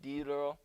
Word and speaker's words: Diderot: It's actually pronounced, I'm pretty sure, like Diderot.